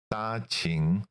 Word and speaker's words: Danqing: Just so people are clear, this is Danqing. Qing, like the Qing dynasty Qing. The same pronunciation.